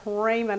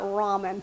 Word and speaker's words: ramen: I grew up saying that word Raymond and not Ramen but after a couple of videos that I've showed y'all how to make ramen noodles I learned the word because y'all let me know how to say it right okay we are going